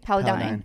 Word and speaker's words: Paladin: uh Paladin is that how you say it Paladin straight paladine okay and then the other one is routines